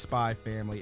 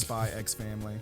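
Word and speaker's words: Spy × Family: You know goddamn well it's just Spy Family. It's not pronounced Spy X Family.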